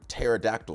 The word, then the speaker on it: pterodactyl: Like, okay, so the word pterodactyl starts with a P.